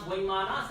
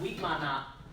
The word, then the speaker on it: Vimana: And also, some pronounce Vimana, some Vimana.